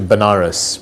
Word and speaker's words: Benares: So I ended up going to Benares, which is a place in India, sometimes pronounced as Vanaras, which is a place where